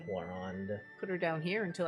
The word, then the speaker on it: Clorinde: But yeah, that's Clorinde or Cloron. I think she's pronounced Clorinde.